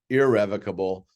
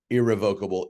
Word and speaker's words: irrevocable: for a moment revocable irrevocable I am pronouncing that way just so you clearly hear the difference in what I'm saying the pronunciation for each is correct both ways all right so revocable